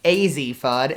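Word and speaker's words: Azzi Fudd: going to yukon and it's a z fudd and not as e fun so i apologize for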